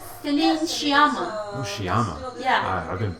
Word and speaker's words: Sciamma: How do you pronounce her last name? Celine Sciamma.